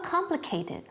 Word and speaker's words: complicated: And also complicated. Ojo, aquí la pronunciación. ¿Cuántas sílabas son? 4. 4 syllables. Complicated. Don't forget the last syllable.